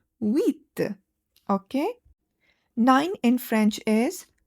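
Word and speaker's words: huit: Notice that H is silent and you say it as with.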